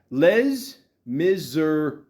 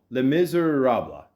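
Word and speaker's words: Les Misérables: Les Miserables. No, Les Miserables.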